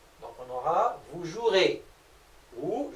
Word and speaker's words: jouerez: Pour le verbe jouer, on garde toujours le verbe avec son infinitif, on rajoute la terminaison EZ, sauf que le E qui est là ne se prononce pas. Donc on aura vous jouerez, vous jouerez.